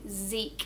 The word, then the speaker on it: Zeke: So we have Z-E-K. Zeke. We have 3 sounds. Z-E-K. Zeke. But of course we have 4 letters when we spell it.